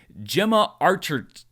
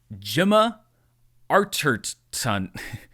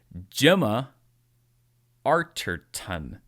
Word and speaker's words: Gemma Arterton: Gemma Archer... Gemma Archer... Okay, I'm going to get this one of these days. Gemma Arterton. One more time. Gemma Arterton.